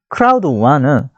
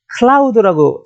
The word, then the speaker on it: Crowd1: 자, 저희 크라우드1은 어떤 사람은 클라우드라고 잘못 오해를 하시는 분이 계시는데 그 클라우드는 웹 서비스입니다. 웹을 기반으로 하는 서비스고요. 저희가 얘기는 스펠링이 달라요. 그거는 CLOUD, 구름이라는 뜻이고요. 저희는 크라우드입니다.